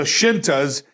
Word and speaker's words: Scinta: so they put the shintas and it's spelled s-c-i-n-t-a shinta plural shintas and then underneath it